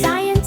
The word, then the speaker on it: science: Science, scene, the C is gone. Let the S sound carry on.